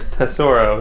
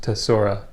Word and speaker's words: Tesoro: Tesoro. There's no C. Tesoro. Okay. We got some appetizers. It's pronounced Tesora. No, it is not.